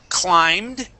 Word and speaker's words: climbed: much better okay uh this word here is climbed long ey sound the B is silent climbed climb okay one